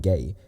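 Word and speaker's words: gé: Okay, I wanted to make this meme ages ago when Pride Month was still on, but yeah, gay, pronounced gay, is Irish for goose.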